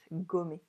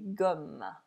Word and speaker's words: gomme: Okay, it is both, gommer, or just like forget about something. I'm checking my notes, so we're good. Je fabrique des gommes. And it is exactly the same pronunciation as homme.